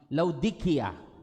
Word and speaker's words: Laodicea: Ang matuod-tuod nga pronunciation amo ang Laodicea, the Church of Laodicea.